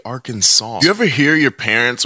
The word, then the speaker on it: Arkansas: would have made Kansas why don't we just say Kansas and Arkansas since they're spelled the same way why do we say Arkansas you ever hear your